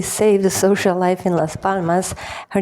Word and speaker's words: Las Palmas: By the way, the locals don't pronounce the s at the end.